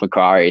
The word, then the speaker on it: Macquarie: He said it's Macquarie, so I'm going to go with Macquarie.